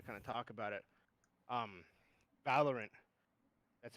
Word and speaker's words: Valorant: Valorant.